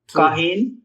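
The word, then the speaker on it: כהן: So pronounce to me the defective Cholam, Het, Shuruk, Nun. How does that sound? Hup. Kohayn.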